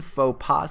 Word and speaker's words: faux pas: like a social mistake make sure that you pronounce this correctly it's a french expression faux pas so he makes a